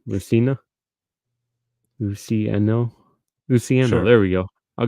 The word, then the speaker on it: Luciano: And Marco Lucini. How do you say? I can't even say his last name. Luciano.